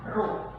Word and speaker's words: rho: Berarti saya simbolkan seperti ini, massa jenis itu adalah rho. Bacanya ini adalah RHO. RHO, rho. Itu, massa jenis itu adalah rho.